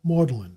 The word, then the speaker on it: Magdalen: Footnote: the English have a great number of such decayed pronunciations. For example, Magdalen for Magdalen College, Sister for Cirencester, Marybone for Marylebone.